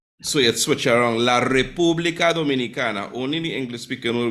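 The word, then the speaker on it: República: around the order and it's not Republic it's not as it becomes a Republica it's not Dominican but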